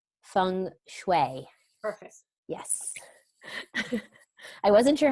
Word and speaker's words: Feng Shui: now with, I'm going to say it right, Feng Shui.